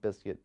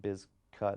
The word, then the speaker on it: Bizkit: Originally, it was always pronounced Limp Bizkit, I believe, but originally the name was spelled B-I-Z-K-U-T, the biscuit was, but they changed it because they didn't want people pronouncing it Bizcut, I believe.